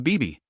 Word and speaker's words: Vivi: words I found out bib's name should be Vivi but I'm going to stick to bibe it is pronounced the same in Korean there are some gaming